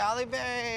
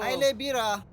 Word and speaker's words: Haile Bira: Like with the ignorant American drivers who found it easier to make fun of his name instead of learning how to say it. Hey, Ali Berry, how are you? Haile Bira.